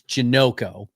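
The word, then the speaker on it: Janocko: So, fortunately, the Saints website still has those guys up, and they broke they gave the pronunciation, the phonetics. It's Janoko.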